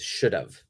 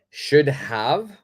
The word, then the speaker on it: should have: please pronounce it like should have should have okay so whenever you are speaking make sure you're careful with this pronunciation the have have is pronounced like an of should have Okay so